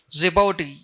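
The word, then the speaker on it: Djibouti: See Sudan, Ethiopia, Ethiopia, Eritria, Eritria, Zeoti. D is silent there.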